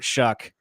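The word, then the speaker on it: Shough: I'm sorry, Tyler Shuck. I Who would have known, dude? The way it's it's just like I'mma leave you. It's spelled like s. I'mma leave you. It's s o u g h. Shuck.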